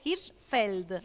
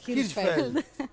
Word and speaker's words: Hirschfeld: ninguna I, así que es Hirschfeld. Hirschfeld.